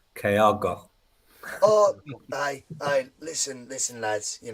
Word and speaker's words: Kyogo: Bhoycie, I'm disappointed you're not putting as much effort into the pronunciation. It's Kyogo.